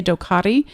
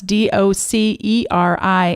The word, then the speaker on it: Doceri: It's called, some people say Doceri and some people say Docari. You could pronounce it however you want, but it's Doceri, and it is an iPad app.